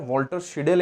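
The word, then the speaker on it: Walter Scheidel: ठीक है, इनका प्रोनाउंसिएशन इस तरह, वॉल्टर शिडेल एक लेखक है।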